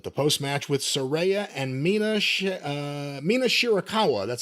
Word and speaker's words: Mina Shirakawa: The finish of May versus Cameron with the post-match with Sareeya and Mina Shirakawa.